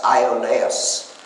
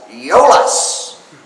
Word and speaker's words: Iolaus: was accompanied by someone whose name should be pronounced in English as Iolaus, but was pronounced in that series as Iolaus.